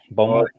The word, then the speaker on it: Beaumont: Beaumont.